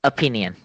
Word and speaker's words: opinion: think that okay stop opinion say it again with me an opinion okay you'll get in the first syllable which is not okay it is stress on the second syllable okay okay so in